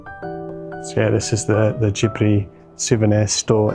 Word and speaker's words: Ghibli: And there's a Studio Ghibli, or Ghibli, as you pronounce it here, cafe.